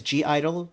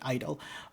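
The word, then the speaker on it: (G)I-DLE: to read it as G Idol. The G is silent, so that's why I'm calling it Idol.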